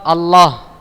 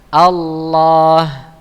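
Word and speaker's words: الله: Ada huruf alif, jadi dibaca Allah, ya. Bukan dibaca Allah, ya, tapi Allah, ya. Bukan dibaca Allah, tapi Allah. Ketika dia dhammah, jadi contohnya Rasulullah, ya, lu-nya itu dhammah, Rasulullah.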